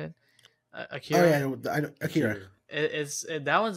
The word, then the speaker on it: Akira: Akira.